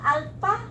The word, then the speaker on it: alpha: numbers, Are we gonna read this one alpha Alpha. or alpha? Alpha. With the silent what? How we will combine the word the letters PH. How we pronounce the PH? F. Like F.